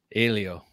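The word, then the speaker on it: Hélio: Helio. Wow. Yes, that's how you pronounce it, Helio.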